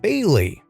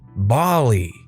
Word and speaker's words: Bailey: say my name is Bailey pronounced Bailey pretty straightforward right well this teacher always always pronounced it Bali it hurt because that